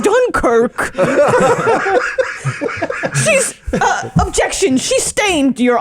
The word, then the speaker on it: Dunkirk: I haven't been felt this much upriver since we've been up Dun Creek. It's pronounced Dunkirk.